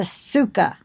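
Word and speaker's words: סוכה: of Sukkot but the the booth is a Sukkah all right an Hebrew teaching Jewish lady that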